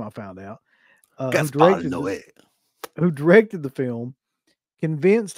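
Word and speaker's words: Gaspar Noé: So Gaspar Noe, which is how you pronounce that fucking guy's name, I found out. Gaspar Noe.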